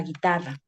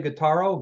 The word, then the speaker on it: guitarra: dijeron, esto es una guitarra. Yeah, so Por you ejemplo. so you say, oh, how do you say guitarro? Guitarro? Is that how you say it in Spanish? Guitarra.